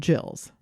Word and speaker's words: gill: units called Jacks and jills oh spelled like fish gills but pronounced Jill okay now as you'd